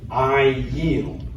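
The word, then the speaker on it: אַיִל: So we're going to pronounce the yud cuz there's a vowel under it. I yeel.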